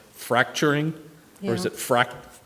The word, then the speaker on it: fracking: it fracking? I kept thinking of fracting, but I don't. It is fracking. It's fracking, right?